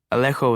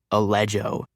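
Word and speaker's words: Alejo: Alleo was too hard for people, and teachers would never mispronounce Allan. My second grade teacher kept calling me allejo until my mother shut it down.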